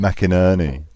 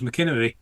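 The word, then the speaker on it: McInerney: Tim mcinery was brilliant how do you say his name Tim mckin Ernie is that right yeah why are you asking just wondered I always used to think it was mckin but so everyone did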